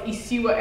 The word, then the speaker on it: Isiwa: Thank you so much for that, because when people like mispronounce my name, I'm just like, no, it's Isiwa, and I'm like, oh my God.